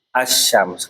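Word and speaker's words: الشمس: Ee alif lam sama itu kan alif lamnya tidak terbaca kan? Asyams.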